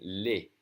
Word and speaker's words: les: But when there's an S, it's always going to be pronounced E, as in les.